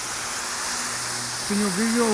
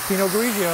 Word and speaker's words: Pinot Grigio: Pinot Grigio, what is it? How do you say that? A Pinot Grigio.